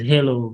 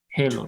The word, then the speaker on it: halo: claim that's a reflection they pronounce it as hello but there's no e they knew yeah we give it a heart a I don't know why so click to watch uh